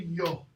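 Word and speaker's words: yogh: This is called a yo. Y-O-G-H. Yo. Yo. Okay?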